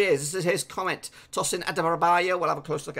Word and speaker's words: Tosin Adarabioyo: And there is the pronunciation for you. Tosin Adarabioyo.